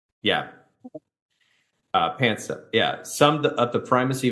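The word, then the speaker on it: Panksepp: were talking about the neuroscientists that I cannot pronounce her name. What is it? Jack Pans Pank Pep Pansk. Yeah. Uh Pansep.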